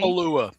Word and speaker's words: Kapalua: But bad news for I don't even know how to pronounce that. Kapalua in Hawaii. Kapalua.